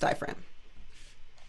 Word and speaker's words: diaphragm: Please note that it's got a G in it. You can say it in your head, diaphragm, so that you can remember how to spell it, but it is pronounced diaphragm.